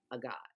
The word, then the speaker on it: Agaat: buzzing about this book, A God, which you you say it correctly. I may still say it incorrectly. Marlene has corrected me that in South Africa it's pronounced a hot.